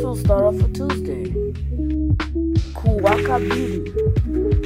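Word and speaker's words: Kuwakabiri: the video first we'll start off with Tuesday Kaka Beauty k u w a k i b i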